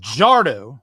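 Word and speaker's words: Fajardo: I mean, I'll say his name right, Cody Bardo.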